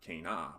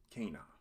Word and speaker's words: cana: of the little line called a macron over the top, is an A sound and not an E sound. In addition, this word is an example of how Latin accents the second to last syllable in two-syllable words. So this is not cana, but cana.